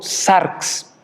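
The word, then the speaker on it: σάρξ: La palabra carne viene del griego sarx, así se pronuncia, y normalmente esta alude al cuerpo, a la sangre que corre a través del cuerpo, a la naturaleza humana.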